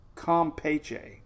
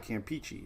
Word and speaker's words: Campeche: to say it it's not peach it's peach compeche the bay of compeche for years i've been calling bay of campeche it's the bay of com pache the boc